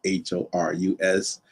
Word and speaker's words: Horus: Uh, it's also spelled H O R U S and pronounced Horus.